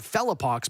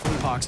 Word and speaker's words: Pox: into the Trap of calling him felox because that's just the way phonetically I think the name should go but I mean pox is his name call